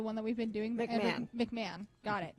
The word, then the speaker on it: McMahon: No H on it. I mean, there is an H. It's McMahon. Right. McMahon. Yeah. Well, I know somebody who was named who actually pronounced it that way. Pronounces the H? That's weird. McMohan, yeah.